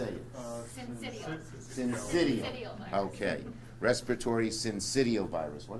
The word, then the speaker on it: syncytial: Syncytial.